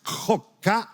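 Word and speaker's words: חֹק: Cuando usted lee la palabra estatutos en español, en hebreo es la palabra jok. La pronunciación es jok, J-O-C.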